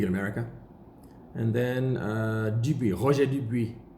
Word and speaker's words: Roger Dubuis: And then Dubuis, Roger Dubuis. It's another big brand which is often mispronounced. Roger Dubuis. In French, it's a Roger Dubuis.